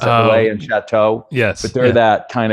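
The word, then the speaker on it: Relais & Châteaux: I always forget how to pronounce it. Relay and Chateau.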